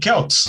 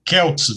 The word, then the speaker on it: Celts: Faixa 2 do disco 2, Death of the Celts. É Celts, viu? Não é Celts, mas se quiser chamar de Celts, pode também, porque a pronúncia lá desse termo é Celts e não Celts.